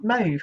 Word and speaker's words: mauve: I can't remember how they were pronouncing it. Mauve, mauve, something like that. It's mauve, guys.